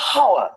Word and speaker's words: hour: Why is there an h? The silent h. Nobody has ever said I'll see you in a hour. I'll see you in an hour.